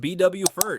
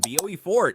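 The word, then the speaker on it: Beaufort: Bowfort sits on Port Royal Island between Charleston and Savannah. Pronounced BW Fert if you're local and BOE Fort if you're about to get corrected.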